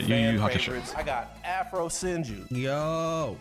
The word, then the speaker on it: Yu Yu Hakusho: Yu Yu Hakusho.